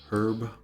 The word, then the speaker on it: herb: In America we don't like to say this H, so it becomes echo herb, I guess if we pronounced it. I'm of the school of thought that I really like that H in there. Echo herb. Let's bring back the H.